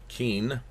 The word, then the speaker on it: Qin: to your translation guide Qin because q is ch and if you throw an